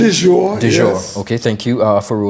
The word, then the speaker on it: Dior: Did I pronounce that correctly? Dior, Dior.